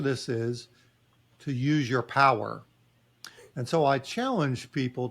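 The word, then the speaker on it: PWRR: just uh it's a it's a strange spelling but phonetically power but spelled with r as opposed to e r at the end and the the P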